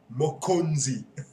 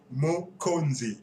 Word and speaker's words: Mokonzi: series by the way I hope you can say it properly by now already it's mozi mozi okay as I told